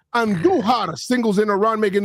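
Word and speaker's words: Andújar: Roll your R's when you say Andujar singles in a run, making it 6-1.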